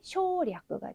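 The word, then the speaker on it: 省略: 생략인 경우에는 발음이 쇼리아크가 되겠고요.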